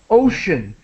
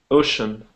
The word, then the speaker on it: ocean: to help with pronunciation so ocean it has an sh sound in it in Engish English we have sh o ocean ocean okay yeah thanks and